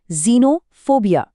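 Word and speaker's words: xenophobia: इसका उच्चारण है जीनोफोबिया।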